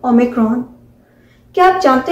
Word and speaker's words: Omicron: OMICRON, और इसे हम प्रोनाउंस करते हैं ओमिक्रॉन।